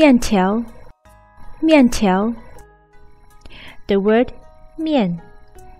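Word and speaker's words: 面: it's noodles we until me until the word Mian it's makeup off the Alisha more and the final yen so the syllable is more yen mian mian mian mian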